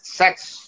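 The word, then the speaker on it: Sachs: সেক্স এই উচ্চারণ Jeffrey.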